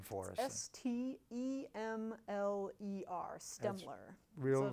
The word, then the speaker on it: Stemler: S-T-E-M-L-E-R, Stemler.